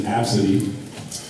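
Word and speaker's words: Abcde: day her name was absidy thought oh that's an interesting name heard anything like that before how do you spell that say like a b c d abses what you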